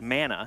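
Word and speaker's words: manna: M-A-N-N-A is the bread from the gods, and that's mana.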